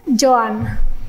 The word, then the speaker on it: Joan: is j oan ah joho yeah joh joh Johan like Johan joh okay Joan moo yeah cuz I know